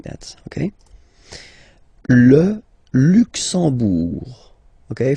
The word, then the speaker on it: Luxembourg: Le Luxembourg, okay, final G not pronounced, and then when you combine this E-M here, you get the sound en.